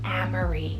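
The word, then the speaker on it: Amerie: Then for another A name here is Amory, spelled A-M-E R-I-E, Amory.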